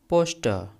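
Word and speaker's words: poster: Dad look at द पोस्टर ऑन the bathroom door. अब यहां पर देखिए यह पोस्टर है। इसे हम पोस्टर नहीं पढ़ते। इसमें आर साइलेंट होता है।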